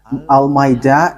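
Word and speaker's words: المائدة: So the way you write it, Al-Ma'idah, is as it is pronounced, Al-Ma'idah.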